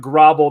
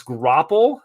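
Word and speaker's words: graupel: question what is so it's not Grable that's okay you're doing great uh it's grapple um here I'll type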